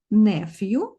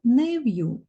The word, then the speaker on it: nephew: Зверніть увагу, що це слово має два варіанти вимови – nephew та nephew.